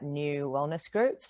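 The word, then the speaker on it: Neu Wellness Group: uh all of the handles are New Wellness groups so it's spelled n-e-u Wellness Group so website is uh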